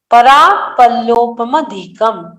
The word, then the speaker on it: परापल्लोपमधिकम: परापल्लोपमधिकम, परापल्लोपमधिकम। थोड़ा सा ये पढ़ने में कोई लोग गलती करते हैं, इसमें 2 म का उच्चारण आना चाहिए। परापल्लोपमधिकम, परापल्लोपमधिकम, दो म का उच्चारण यहाँ पे आपको लेना है।